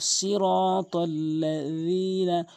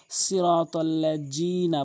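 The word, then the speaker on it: صِرَاطَ الَّذِينَ: এরপরে সিরাতাল্লাযীনা, অধিকাংশ লোক সিরাতাল্লাযীনা বলে। আমরা বলবো জিহ্বার আগা দাঁতের আগা নরমালি সিরাতাল্লাযীনা। এরপরে আনআমতা, অধিকাংশ লোক আনআমতা এভাবে বলে।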